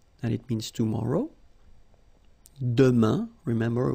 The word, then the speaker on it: demain: For the future now, we've got demain, and it means tomorrow. Demain, remember, when you combine this A-I-N, you get the sound un.